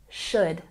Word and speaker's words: should: I'm concerned the project should start next week remember when we pronounce this word we don't say the L practice with me should should very good and